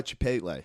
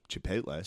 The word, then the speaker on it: Chipotle: the way you said Chipotle. Chipotle. That's right. Yeah. What are you supposed to say? Chipotle. Chipotle. Chipotle. I pronounce the L.